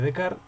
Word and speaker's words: Descartes: figura de the cars de carl se pronuncia de kart y cogito un cogido